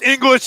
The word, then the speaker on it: Ingles: Yeah, it's like English. Yeah, Ingles, Joe, Australian. Pronounced English, Joe.